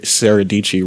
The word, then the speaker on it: Dietschy: just kidding sarah dietschy i think they're saying that sarah saradici rhymes with peachy who was saying that